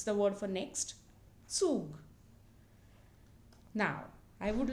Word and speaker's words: Zug: And its pronunciation is a sound which is a mixture of the sounds th and s.